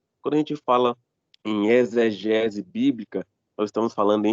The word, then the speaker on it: exegese: Eu sou ruim de pronunciar esse nome, mas é exegese como se o X fosse um Z.